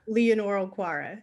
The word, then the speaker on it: Leonore Okwara: Leonora Okwara.